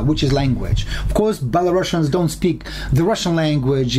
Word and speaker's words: Belarusian: Or Belarusian, I would, because without double S, sure. We should pronounce it Belarusian. Now it's Belarusian, Belarusian. Belarusian is one S, not SH.